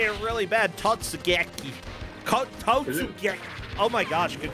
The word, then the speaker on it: Totsugeki: Is the basket also named Tatsugeki? It's not Tatsu, it's Totsu. Whatever. Or if you say it really bad, Totsugeki.